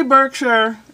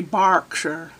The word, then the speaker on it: Berkshire: FM in Berkshire Burke I say Berkshire they say Berkshire why do you say different like clerk is clock it's not spelled with an A people all those silly